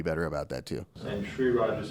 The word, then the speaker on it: Sri Raj: And Sri Raj is spelled SRIRAJ. You got it. Yeah. So it's not SH, it's SRI. SRI.